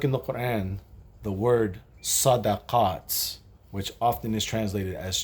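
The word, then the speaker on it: صدقات: So the fact that this word is pronounced one way 8 times, sadaqaat, and pronounced differently 1 time, there's a meaning in that.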